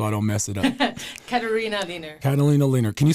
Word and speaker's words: Katharina Lehner: Katharina Lehner. Katharina Lehner. Can you spell that for the people out there?